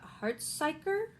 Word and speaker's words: Hartsuyker: In the same vein, there's The Golden Wolf by Linnea Hartsuyker. I think it's a Scandinavian last name. Hartsuyker. I believe that's how it's pronounced.